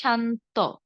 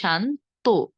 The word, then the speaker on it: শান্ত: যেমন ধরুন সয়াকার সা, ন ত সংযুক্ত, আমরা অনেকে উচ্চারণ করি শান্ত। শান্ত উচ্চারণ না করে আমরা উচ্চারণ করব কি শান্ত, শেষে ওকার যুক্ত করব। শান্ত না বলে বলবো শান্ত।